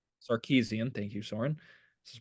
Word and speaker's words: Sarkisian: But I'm going to step on my own transition here and say that Steve Sarkisian, I cannot pronounce his name. Sarkisian, thank you, Soren.